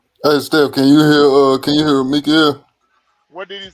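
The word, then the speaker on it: מיכאל: And at that time shall Mikael stand up, that great prince which standeth for the children of thy people. That's how you say his name in Hebrew.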